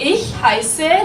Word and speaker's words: heiße: All right, now we have this S letter. As you can see, we learned about that. So it's pronounced S, right?